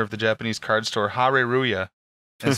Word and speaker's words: Hare Ruya: And I met Saito, who's a Magic pro, and he's also the owner of the Japanese card store, Hare Ruya, and spelled like that in English. H-A-R-E-R-U-Y-A.